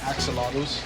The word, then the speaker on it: Axolotl: Axolotls.